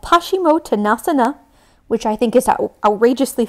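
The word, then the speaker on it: Paschimottanasana: if you don't want to this is called pashimo tanasana which i think is outrageously fun to say please say hashimoto nasa na say it like you're shocked we're gonna hang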